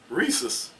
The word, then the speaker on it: rhesus: Rhesus. Because it's RHESUS. Something is silent right there.